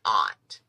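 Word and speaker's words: aught: when i said 11 aunt when you're bead shopping you get beads and they come 11 slash 0 it is called 11 aunt okay and it's spelled a-u-g-h-t 15 aunt eight odd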